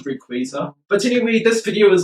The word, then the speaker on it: Rayquaza: Definitely more than other legendaries such as Groudon, Kyogre, or Rakzeo. Did I just mispronounce Rayquaza?